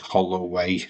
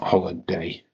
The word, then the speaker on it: Holloway: Hol way. It's hollow way, not holiday.